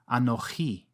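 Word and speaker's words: אנוכי: In biblical Hebrew, sometimes you'll come across another form, pronounced anochi. Both forms end with a chirik yod for that recognizable E sound.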